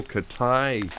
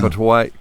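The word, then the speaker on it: Catuaí: Oh, yes, this is a natural yellow Katai. No, not Catuai. Bourbon. Yeah. Catuai. Catuai. Yeah. All the letters are pronounced.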